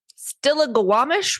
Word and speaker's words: Stillaguamish: Michelle also led police to where they had stashed their guns in the Stillaguamish River.